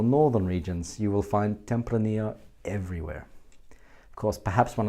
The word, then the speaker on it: Tempranillo: Tempranillo. The double L at the end is often pronounced y in the Spanish language, and in fact that is the key.